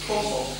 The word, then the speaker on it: Pompon: Sì, è così. Si pronuncia così. Pompon.